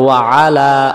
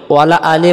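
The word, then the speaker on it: وَعَلَى: এখন এই শব্দটা আমরা অনেকে ভুল করি, আমরা বলি ওয়ালা আলি মুহাম্মাদ, ওয়ালা আলি মুহাম্মাদ, ওয়ালা আলি যদি মুহাম্মাদ পড়ি ওয়া জবর ওয়া এই লাম জবরলা ওয়ালা আলি, তাহলে এই যে আইন অক্ষরটা বাদ গেছে, আইন অক্ষর বাদ গেলে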